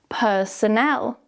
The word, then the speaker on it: personnel: Now the second word, personnel. Notice that because we put the stress at the end now, we need to change that schwa sound so it's now a stronger syllable, a stronger vowel sound. Personnel. Personnel. It becomes an e like in Emma.